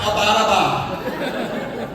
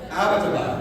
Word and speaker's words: Abbottabad: And she said, yes, and it's not pronounced Abbottabad. I was like, well, how do you say it? And she said, Abbottabad, right?